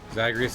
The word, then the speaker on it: Zagreus: Zagreus has 3 syllables.